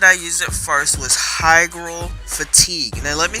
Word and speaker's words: hygral fatigue: It's called hygral fatigue.